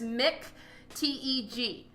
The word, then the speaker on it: McTeigue: Oh, Eric, I say McTeigue, so just pretend like there's nothing else there, just McTeG. That's how I personally pronounce it.